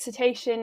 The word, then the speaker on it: cetacean: um so yes you are saying it right cetacean is the collective team for whales dolphins and